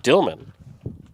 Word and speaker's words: Dulman: Trevan Dilman, the hitter, spelled Dulman, but pronounced Dilman from what I'm told.